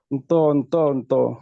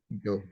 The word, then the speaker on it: Nto: Nto. Yeah, M with apostrophe is pronounced that in to. Oh, Nto. Yeah, like that. Nto.